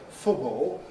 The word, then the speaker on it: football: Football. You mustn't leave it out. You mustn't say football. But football is creeping into receive pronunciations on football.